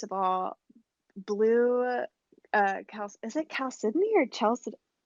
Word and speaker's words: chalcedony: I want to say it's chalcedony. That's the way I've always said it, but like I'm no geology expert, so I could be mispronouncing it. But I do think it's chalcedony. Okay.